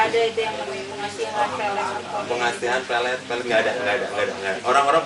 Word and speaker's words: pelet: Jadi pengucapannya juga itu harusnya berbeda. Kalau untuk pelet makanan kita harusnya bilangnya pelet. Pelet. Tapi kalau untuk yang semacam pengasihan itu untuk mengikat itu pelet sebetulnya. Yang benar tuh pelet.